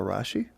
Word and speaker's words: Rasche: And this is my friend, Rasche. Rhymes with Kashi.